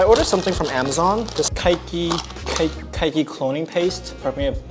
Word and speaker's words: keiki: How to pronounce keiki? The word for today is keiki.